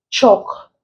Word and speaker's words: chalk: the L is silent salt the L is pronounced chalk the early silent Sam the L is also